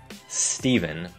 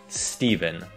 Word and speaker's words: Stephen: Chúng được đọc là V, chứ không phải F. Steven. Steven.